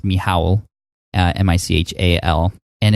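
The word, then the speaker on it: Michał: his name is I thought his name was Michael but it's pronounced me Howell mich al and it's just like incredibly long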